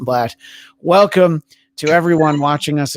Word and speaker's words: Bladt: always i am bratt i also said my name wrong i'm blatt welcome to everyone watching